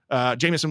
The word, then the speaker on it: Jameis: So I think this is a matchup against Jameis Winston or Jameis Winston. You said it right the first time.